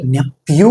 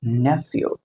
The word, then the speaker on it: nephew: இட்ஸ் நாட் நெப்யூ கிடையாது, இட்ஸ் நெஃப்யூ. ஸோ இங்கே வந்து here F song you should pronounce like F, நெஃப்யூ.